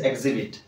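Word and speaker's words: exhibit: নয় ইট ইজ এক্সজাস্ট এথিরে আমি এচ পড়িবার পারি এক্সজাস্ট কিংবা আমি এথিরে এক্সিবিট পড়ু না ইট ইজ এক্সিবিট ওকে প্রদর্শন করিবা এক্সিবিট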